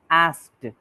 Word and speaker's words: asked: You actually placed the K before the S.